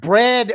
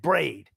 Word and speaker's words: bread: Because you butchered bread earlier today and called it braid.